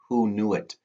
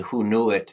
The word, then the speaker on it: Hoonuit: And you'll find out some skills through a tool on Rapid Identity called Who Knew It? And that is spelled HOONUIT. And Who Knew It is this little infinity icon.